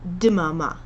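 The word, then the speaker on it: דממה: And if you're having trouble pronouncing that, you can put a little bit of an I sound in between. So in the first song, there's the word dmama, and you can say dmama.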